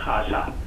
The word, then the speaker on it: خاصا: خے، الف اور سواد اور چھوٹی ہے، اس کے دو تلفظ ہیں. جی جی. ایک ہے خاصا، خاصا اس کے معنی کنسیڈریبل.